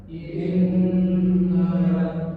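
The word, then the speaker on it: إنّ: kesatu pelajaran kesatu gah Setiap huruf nun atau mim yang bertasydid dalam ilmu tajwid namanya gunah. Contoh membacanya semuanya ini takarannya dua harakat jangan sampai kurang.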